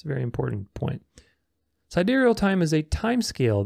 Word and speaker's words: sidereal: Anyway, sidereal time, pronounced sidereal, is a system of timekeeping used especially by astronomers.